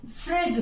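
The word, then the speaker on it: fridge: ये word use किया इसे हम लोग फ्रिज बोलते हैं तो फिर ये डी कहां गया कहां गया ये डी है ना क्वेश्चन सो इन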